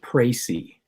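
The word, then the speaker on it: précis: now I hear you okay I'm told it's pronounced pricey you'll have to explain that write a pricey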